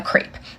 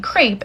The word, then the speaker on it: crepe: that I ate a crepe, and someone commented on that video, "It's my disability, I have to tell you that you pronounced crepe wrong," wanting me to pronounce it crep.